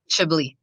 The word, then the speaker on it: Chebli: So this case with the N400 in the Eastern District of Michigan, Chebli, is that how it's pronounced? Chebli. Chebli. Okay.